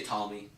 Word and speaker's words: Ptolemy: You would just spell it how you think it was, but then you had a P. I don't know why. No one says Ptolemy. You just say Ptolemy.